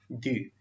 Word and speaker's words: dû: What is the pronunciation? Du.